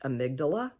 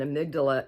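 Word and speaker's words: amygdala: and you've got a right and a left amydala and they play a real key role and amydala is spelled am y g d a l a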